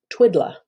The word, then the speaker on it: Twiddla: that is referred to as what is called Twiddla. I have to, TWIDDLA is how it's spelled.